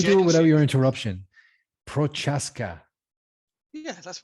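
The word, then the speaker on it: Procházka: me let me do it without your interruption prochaska yeah that's right perfect okay i want to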